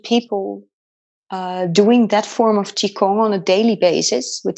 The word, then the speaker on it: Qigong: And did you, so when you went, oh, I want to learn this, how do you say it, Qigong? Qigong, yes. Qigong.